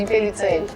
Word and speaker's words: Impellizzeri: Essa é a pronúncia? Isso mesmo, Impellizzeri. Que é italiano.